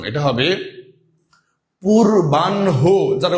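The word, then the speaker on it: পূর্বাহ্ণ: হবে নিচে বসার কথা আবারশায়ান এটা কিন্তু আমরা উচ্চারণ অনেকে ভুল করি অনেকে বলি পূর্বান্য মুদ্যান্্য অপরাণ্য সায়ান্য নট এটা সম্পূর্ণ ভুল এটা সম্পূর্ণ ভুল উচ্চারণ এটা হবে পুরবানহ যারা উচ্চারণের ক্লাস করেছেন তারা তো ভুল করবেন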